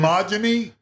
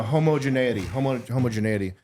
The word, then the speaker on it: homogeneity: How do you say it? Earlier? Homogeny. No, homogeneity.